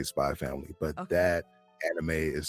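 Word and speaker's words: Spy × Family: think it's spelled out Spy X Family, but you just say Spy Family.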